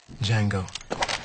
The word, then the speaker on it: Django: dirty what's your name d Jango DJ a n g o the D is silent adult supervision is required